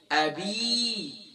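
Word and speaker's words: أبي: با کے بعد جو یا ہے، یا مدہ ہے، اسے 1 الف کی مقدار کھینچنا. اکثر پر تبت یدا ابی لہب، ابی نہیں ہے، ابی.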